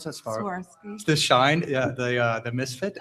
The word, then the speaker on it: Swarovski: How do you pronounce that? Swarovski.